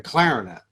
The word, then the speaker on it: clarinet: the trombone and the clarinet there's a first syllable emphasis on these you play the trombone the